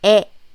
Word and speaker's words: 의: So the pronunciation should be 에.